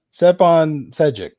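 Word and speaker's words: Stjepan Šejić: Stepan Shajek. Look, I'm going to mispronounce it. Stepan Sejic. That's it.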